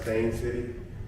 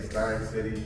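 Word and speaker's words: Steyn City: But yeah, this is this is Stein City and that's what I see too, but it's pronounced Stain City. And if I say if I say Stein City, they're going to correct me.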